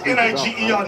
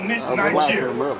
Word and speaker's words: Niger: That was called, sometimes they pronounce N-I-G-E-R, Niger, or Niger.